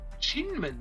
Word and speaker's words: Kinmen: Würde man Kinmen zu 100% richtig auf Hochchinesisch aussprechen, müsste man eigentlich Chinmen sagen. Allerdings nutzt auch die taiwanesische Regierung zeitweise häufig die südchinesische Aussprache Kinmen.